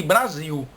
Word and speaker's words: Brasil: do nosso país de Brasil. Mas as pessoas de fora, de outros países, que não criaram essa regra de que L no final de palavra tem som de U, elas pronunciam Brasil, que